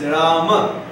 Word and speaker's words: Rama: In Sanskrit, it's Rama. In Hindi, it's Ram.